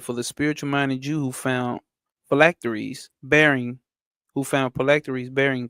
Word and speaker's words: phylacteries: No, that ain't fallacies. Phylacteries.